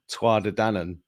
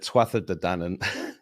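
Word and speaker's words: Tuatha Dé Danann: then I realized that I'd mispronounced twad danan and said TW danan to a load of people in Ireland and they were very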